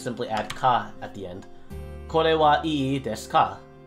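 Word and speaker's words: へ: It's pronounced e, but written as he.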